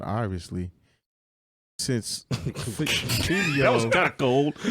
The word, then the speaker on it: Fivio: Fivio. Fivio, like Fabio. Yeah, With a V. with a V. With a V, Fivio.